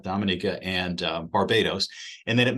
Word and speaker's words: Dominica: Grenadines St Lucia uh Dominica which it's not Dominica Dominica and Barbados and then